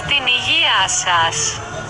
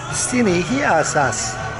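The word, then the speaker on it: Στην υγειά σας: In Greek, that's Stinigiasas. Stinigiasas.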